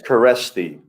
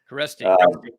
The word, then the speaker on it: Kereszti: SZ is an actual letter. Okay. So, you kind of pronounce that way, but for most Americans, if you just forget about the Z, it's pretty easy.